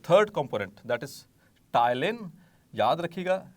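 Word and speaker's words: ptyalin: रखना है, ठीक है, टाइलिन। सो पी साइलेंट होता है आमतौर पर।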